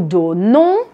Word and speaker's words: donnons: Ensuite, nous donnons, je ne prononce pas le S final.